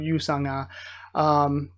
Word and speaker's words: Yu Sang-ah: From the way I understand it, Sang is the first syllable of her name and Ah's the second, so it's kind of weird, hard to pronounce for me, but I'm trying my best.